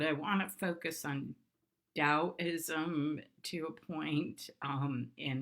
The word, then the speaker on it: Taoism: a description of what Taoism stands for and it's often spelled t8o is M but it's pronounced with the D so that ow means